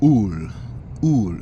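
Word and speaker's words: עול: Well, a child in Israel is a ul, U-L, pronouncing like O-O-L.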